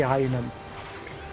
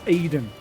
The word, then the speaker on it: Aiden: I always want to say Einan. It's Aiden.